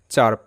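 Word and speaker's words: chirp: check অর্থ পরবর্তী শব্দ চারপ সি এইচ আই আর পি চারপ চারপ তো এখানেও সিএইচ চ হিসেবে উচ্চারিত আই এর সাউন্ড আকার হবে যেহেতু আই আই এর পর আর রয়েছে আমরা নিয়মে পড়েছি এগুলো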